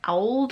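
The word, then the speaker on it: auld: say the word old they spell it a-u-l-d so it's more like owled or something i don't know but they're like trying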